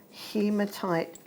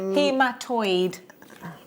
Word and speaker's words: hematoid: Hematite. Not hematite, not hematite. Hematoid. Hematoid. Hematoid quartz.